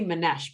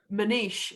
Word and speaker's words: Manish: if you would give, now I say Manesh, but he says it differently. How does he pronounce his own name? It was in that, we shared a video with the tweets. How I does he think say it's his name? Manish. I think he says Yeah.